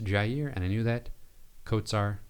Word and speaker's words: Jair: So I knew that it is pronounced Couisnard, and I knew that Jair was pronounced Jair, and I knew that Kotsar was pronounced Kotsar.